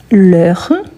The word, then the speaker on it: heure: Mais voilà, L apostrophe, car R commence par H muet. Et c'est un H, donc L, la plus R, l'heure.